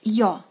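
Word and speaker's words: Ё: Next, Yo. Yo. Yo. Like in English your.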